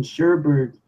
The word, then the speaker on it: sherbet: dictionary that he cited it ties the alternate pronunciation sherbert to a spelling that ends er T and the clue that